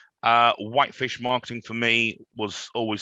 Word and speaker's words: Whitefish: pronunciation and spelling uh whitefish marketing for me was always something quite simple um i but if i have to say it to people i say wipe the color fish the animal but what i'm getting